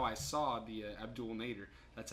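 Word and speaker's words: Abdel Nader: that's good so that's how I saw the Abdul Nader that's how you pronounce it Abdul this has to be the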